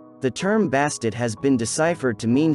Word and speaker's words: Bastet: a more female-like figure emphasized by the pronunciation of the ending t sound of her name which has often been left silent the term bastid has been deciphered to